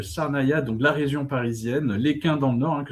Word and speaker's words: Lesquin: Ah là tu prononces bien, tu dis pas Lesquin. Bravo. C'est Lesquin exactement.